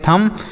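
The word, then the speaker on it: thumb: अगर एम के साथ बी होता है तो बी साइलेंट होता है।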